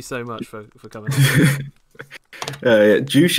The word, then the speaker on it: Joosh: Joosh is how I pronounce it.